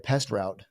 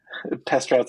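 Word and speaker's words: PestRoutes: help you out yeah I didn't even say it right pest route like Eric's like it's past routes this is a non-sponsored ad yeah pest routes and Tech that's right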